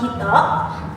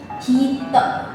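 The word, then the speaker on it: 人: Kalau kunyomi apabila kanji orang itu berdiri sendiri, maka dia tuh dibacanya hito. Hito. Kalau semisal dia tuh bersama dengan kanji lain, dibacanya tuh min atau jin.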